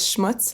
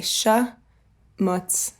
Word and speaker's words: schmutz: schmutz like their Sonia but I never could pronounce it so my dad would make me say sha mutts so much mutts and when I was eight I still couldn't do it so I would say show mutts so much it was